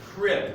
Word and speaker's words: crib: So we spell it like this, with a K sound. So it's 1 syllable, but it sounds like a K. Crib.